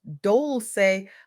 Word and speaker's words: Dolce: I'm Dolce, pronounced doulce like sweet softness whispered in French.